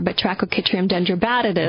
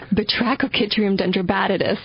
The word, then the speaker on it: Batrachochytrium dendrobatidis: There's a related fungus called BD, or Batrachochytrium dendrobatidis. Do it again. BD stands for? Batrachochytrium dendrobatidis.